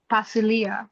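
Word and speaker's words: βασιλεία: word one more time, keeping in mind that the stressor is on the penultimate syllable. So I would say the first half fast and slow down towards the end. Bravo. Perfect. So basilia.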